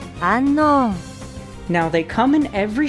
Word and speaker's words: Unown: So now let's talk about the mysterious Unown, whose Japanese name is the same as its English one. They just say it like this. Unknown.